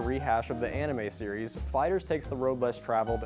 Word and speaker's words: FighterZ: Today, we're looking at Dragon Ball FighterZ, and yes, I checked the pronunciation on that, it's Fighters.